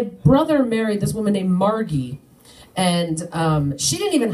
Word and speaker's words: Margie: do like to me if your name is Margaret um you shorten it it's Margie I don't know where she got the hard G from I don't know